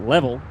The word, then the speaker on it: LVL: little game expo called lvl they pronounce it level ldl level up in